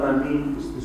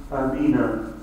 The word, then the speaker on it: Ameen: But if one desires to connect it to the following word, he should pronounce it Ameena, in the same way one says Kaifa and Aina, and not say Ameeni.